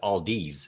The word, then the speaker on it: Aldi: about oh yeah so aldi aldi however you aldi i don't know how you pronounce it well generally your average american says aldi's and adds the s to it so yeah all these